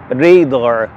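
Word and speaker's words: radar: ادسنس ادسنس ادسنس ادسنس الكلمه الرابعه بمعنى رادار لكن تنطق في الانجليزيه بشكل مختلف ونطقها الصحيح ريدار ريدار ريدار ريدار الكلمه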